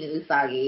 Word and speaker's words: Usagi: Yeah, you played Usagi. Is that how I pronounce it? I am playing Usagi.